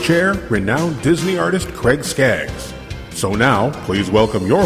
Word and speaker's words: Skaggs: It's Skaggs. Skaggs. Yep. Okay. Yep, and it's spelled like Ricky Skaggs, not Boz Skaggs.